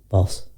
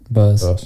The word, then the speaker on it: Bose: No, like you'd think they would go to like is it Boss or Bose? How do you say it? Bose.